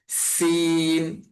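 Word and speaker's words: سين: জা, একদম শীষ দেওয়ার মতো উচ্চারণ হবে। জা। তারপরে হরফের নাম হচ্ছে সিন।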